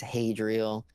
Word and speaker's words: Hadriel: or whatever about yourself i was like it's hadrial and so since then i think he's tried